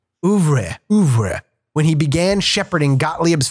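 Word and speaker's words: oeuvre: Ouvre. It's a French word. Ouvre. It's like Ouvre.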